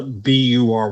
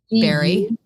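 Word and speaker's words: bury: So, how do you pronounce uh B U R Y? Barry.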